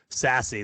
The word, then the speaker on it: SASE: something called sassy and it is pronounced sassy that is uh secure